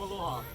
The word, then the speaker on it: aloha: Some people yell aloha, but the only real way to say aloha is a brief and warm aloha.